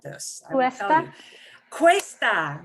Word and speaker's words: cuesta: Cuesta, right. Cuesta. Think of a Cuesta. quest. Yeah, we do have a word quest. Cuesta doesn't mean that, but yeah, but you'll pronounce it like that word quest.